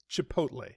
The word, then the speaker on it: Chipotle: to Chipotle addict because these two Yahoo's keep calling Chipotle I'm assuming that they also pronounce it new killer and 'cimmanon saying it one more time out right now it's Chipotle addict Chipotle okay yeah as in